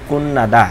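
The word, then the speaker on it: 끝나다: করা, কুন্নাদা শেষ করা, এখানে থিউতের পরে নিয়ন আসছে এই জন্য থিউতের উচ্চারণ এখানে নিয়ন হবে, এটা একটা বাচ্চামের নিয়ম, তাহলে উচ্চারণ হবে কুন্নাদা শেষ করা, ইগন এইটা, ইয়লসি ছাবি, খুরুন দে তবে, খাজুক পরিবার, সাজিন ছবি।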